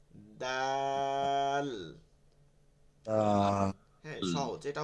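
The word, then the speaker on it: دال: দা দা দি বা আরবিতে কোন ধই নাই ঠিক আছে ধ নাই এটা মানে মাথায় রাখতে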